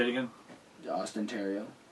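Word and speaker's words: Theriault: Austin Terrio. Terrio.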